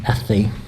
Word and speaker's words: hace: weather, you can say hace calor, which is I'm hot, or hace frío, I'm cold. And that sound in Spanish, ce, hace, that's how they pronounce those letters.